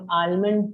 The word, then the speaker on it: almonds: ये जो L है, ये L silent है, ठीक है? So हम लोग almonds नहीं बोलते हैं, but we should say almonds.